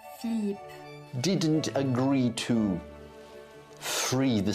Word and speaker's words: Philippe: But King Philip of France, It's pronounced Philippe, didn't agree to free the seat for some reason.